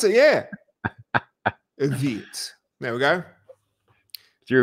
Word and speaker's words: Vite: It's a French word. See? So it's technically. So it's French. So it's Vite.